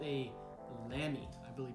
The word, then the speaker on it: Lamy: i just picked up and it's called a lamy i believe it's pronounced l-a-m-y they make fountain pens uh they're